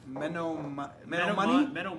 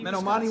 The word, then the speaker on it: Menominee: Menominee? Menominee, Wisconsin.